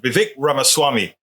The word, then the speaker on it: Vivek Ramaswamy: Vivek Ramaswamy. That's how he says it. Vivek Ramaswamy.